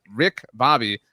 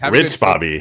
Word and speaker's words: Rich Bobby: But Rick Bobby, CU says, Rich Bobby. Rich Bobby. It's always in my head. Lives rent free in my head the way the Cowboys Look at his name. Look how it's spelled. R-I-C-H.